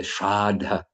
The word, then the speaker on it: Shraddha: And then after he passed away, and they did the Shraddha ceremony with a long A in the middle after 10 days, then practically every devotee in Malaysia came for that celebration.